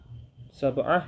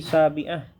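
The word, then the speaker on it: سابعة: Nah, di sini kita bacanya bukan sabah ya, tapi sabiah ya. Karena jam itu seperti ranking atau urutan.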